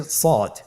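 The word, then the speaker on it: صاد: শুরুতে আমরা শুরু করছি সদ। সদ হরফটি পর হরফ। মোটা হরফ উচ্চারণ ক্ষেত্রে মোটা করে পড়তে হবে এবং উচ্চারণ করার সময় তিন আলিফ টেনে পড়তে হবে।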